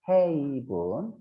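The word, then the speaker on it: haven: 다음에 테이블 별표 하고요 헤이브 얘는 헤븐이에요 천국이고 글자는 긴데 발음은 짧죠 8분 얘는 글자는 짧은데 발음이 길어요 헤이븐 피만 적 알아두세요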